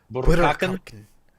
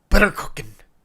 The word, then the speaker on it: Burakake: You gotta roll your R. Burkaken? Burakakin.